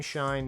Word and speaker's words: Schein: Team Schein members at... I assume that's how you pronounce that. I feel stupid pronouncing it